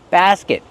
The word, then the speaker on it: basket: Basket. Use the open a sound like black cat. Ba. Basket. And then the closed sound. I basket. And use a stop t, not basket. T. Just stop the air with your tongue.